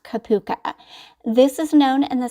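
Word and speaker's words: cupuaçu: I'll be adding this next butter which is pronounced kapuka this is known in the skin care industry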